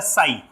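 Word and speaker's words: psi: में नेक्स्ट आता है साई पी साइलेंट होगा इसको हम पढ़ेंगे साई तो वेव फंक्शन इन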